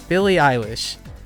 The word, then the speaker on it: Billie Eilish: Yeah, Billie Eilish.